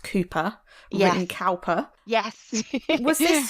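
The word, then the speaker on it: Cowper: the crime she is reading I believe it's pronounced Cooper WR cper yes was this your kind of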